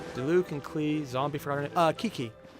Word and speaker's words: Qiqi: Qiqi. Or Qiqi, sorry. QI spelled like a C. Or a CH.